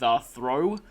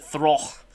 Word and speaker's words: Throh: Which is kind of funny considering that they would later introduce actual judo Pokemon with Throh, or as I used to pronounce it, Throch, in Pokemon Black and White.